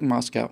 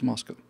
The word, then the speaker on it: Moscow: And it's like, no, it looks like Moscow, and everybody I've ever heard pronounce it as Moscow, but it's Moscow. Or Moskova, if you're really in the know.